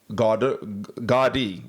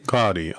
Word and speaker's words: Gaudí: One of the greatest exponents of Catalan modernism was Antoni Gaudí. That's how they say his name. Gaudí, okay.